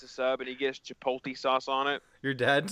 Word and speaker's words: chipotle: Subway, gets a sub, and he gets chipotle sauce on it. Your dad Yeah. does. He says chipotle. Chipotle. I was like, okay. That's not. It's chipotle. Like he's mixing the L and the T.